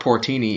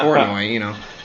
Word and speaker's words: Portnoy: It's not Mark Portini either. Or Mike Portini. It's Mark Portnoy, Mike Portnoy.